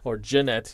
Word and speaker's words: Gennett: We got Morneau, and now followed by Gennett, excuse me. It's the hard G.